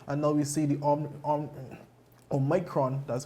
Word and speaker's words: Omicron: surge of cases, and now we see the Omicron, that's how you pronounce it, the Omicron variant of the virus